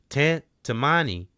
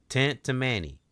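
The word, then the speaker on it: Tantamani: Tantammani. Tantammani. Let me see. Tantammani. We going to say it like that. Tantammani.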